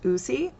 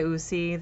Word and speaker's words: Uusi: And again, I think the company is pronounced Uusi.